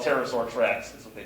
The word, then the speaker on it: pterosaur: eyelids finally speaking of pterosaur tracks we actually have a pterodactyloid landing track and the appropriate way of course to spell pterosaur tracks is what they p but the p is silent that's a gym um